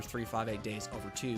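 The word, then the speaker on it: 358/2 Days: Second on the DS after 358 Days Over 2, which is the correct way to say that.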